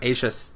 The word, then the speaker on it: Aja: It sounds like Asia, but with more of a ch sound.